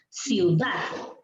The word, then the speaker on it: ciudad: Tú dices ciudad. ¿En qué sílaba, chicos, está el acento? Dat. Muy bien.